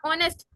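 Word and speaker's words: honest: ऑनेस्ट ऑनेस्ट नहीं कहते हैं। एच इज on silent.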